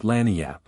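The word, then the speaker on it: lagniappe: expressive handy word lanap they pronounce it lanap it is Spanish so they said we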